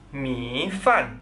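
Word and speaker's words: 米饭: gimana coba baca he Mi fan Mifan artinya nasi mi nada tiga vanan nada empat Mi fan i u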